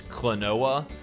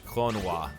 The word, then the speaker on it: Klonoa: americans probably pronounce this clinoa i know i have most of my life but the actual proper japanese pronunciation of this name is klonois clonawa door to phantom